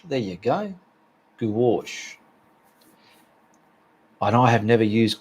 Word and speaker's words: gouache: here we go grouchy is pronounced goo wash gouache there you go gowash and i have never